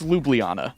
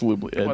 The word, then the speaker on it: Ljubljana: I think it's Ljubljana. Of course. I don't think you pronounce the J's. I think it's Ljubljana.